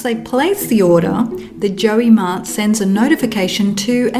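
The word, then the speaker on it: JioMart: WhatsApp shopping integration called Joey Mart I think that's how you say it it's j i o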